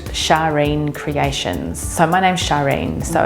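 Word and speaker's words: Sharene: So my name's Sharine, so it's spelled S-H-A-R-E-N-E. So it's from the 60s, so you imagine the hair, the eyelashes. Shireen, probably. No, Sharine's fine.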